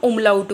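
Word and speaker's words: Umlaut: ये डॉट्स नहीं बोलते हम इसको इसको हम उमलाउट बोलते हैं।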